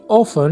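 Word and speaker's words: often: वो अक्सर उससे मिलती है, इसकी इंग्लिश क्या होगी, शी ऑफन meets him. शी ऑफन meets him. ऑफन में जो टी है वो साइलेंट होता है।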